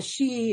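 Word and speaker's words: sidhe: a Celtic one um the she it's spelled s-i-d-h-e is actually like the the fairy realm in Ireland okay and they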